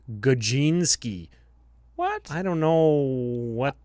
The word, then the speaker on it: Gadzinski: Obviously, the way that it's spelled. Brian Gadzinski. And Okay, in brackets, it's Gajinski.